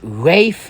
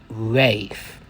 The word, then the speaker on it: Ralph: And you might have noticed his name is spelled Ralph, but since it's a Welsh name, it's pronounced Rafe. Yes, let's let's get into Rafe.